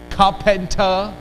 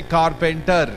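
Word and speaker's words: carpenter: है खा फन ठ remember raw in British English is generally silent ल right so you don't speak raw you don't say कारपेंटर य से कार्पेंटर raw become silent and इट इ replace by अ सो इट्स T teacher teacher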